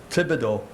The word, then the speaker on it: Thibodeaux: a coat of paint my name is pronounced tibido the h is a non-entity each is our silent